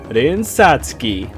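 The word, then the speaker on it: Rin Satsuki: pronounced but over time it has been generally accepted to pronounce the character's name as rinsatsuki the only other piece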